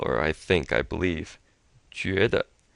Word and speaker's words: 觉得: So this 句, this U here kind of is that French U where it's pronounced up in the lips. Ju, and it's this JU is like the Jew in Jupiter. Jupiter. And then you have an E as in be, bet.